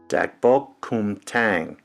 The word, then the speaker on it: gochujang: Gochujang. Just like it's spelled.